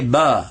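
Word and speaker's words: باء: So say ba, below, ba, below, ba. So make the sound of B right there, ba.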